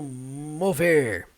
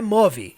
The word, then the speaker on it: move: Percebam como que é a pronúncia do mover. Não é move, igual português. Não. Move. Move. Termina no som do V.